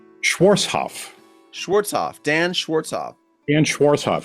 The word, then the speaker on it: Schwarzhoff: off what how do you say your name schwarzhoff schwarzhoff Dan schwarzhoff and schwarzhoff yeah it's not